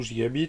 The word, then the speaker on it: Gigabyte: Aujourd'hui je vous présente l'osmium, si je le prononce bien, d'Avia, donc ni plus ni moins que Gigabyte, ou Gigabit si on le prononce à la française.